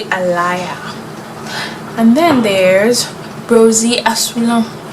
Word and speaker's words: Alaïa: That looks different than how it's said, I think. I don't know, maybe not, but that's probably something that could be confusing to say if you have never had to pronounce it or come in contact with it. So it's actually Alaïa.